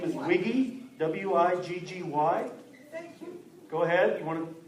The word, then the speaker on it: Wiggy: the looney stage not new to comedy wiggy everybody thank you you heard pj correctly my last name is wiggy w-i-g-g-y thank you go ahead you want to